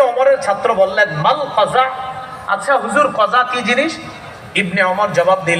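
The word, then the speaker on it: قزع: না এটা নিষেধ আছে বলেন আমার সাথে সবাই কজা বলেন কজা আবার বলেন কজা কজা কফ যা আইন বানানটা কজা বলেন কজা কজা করা নিষেধ সবাই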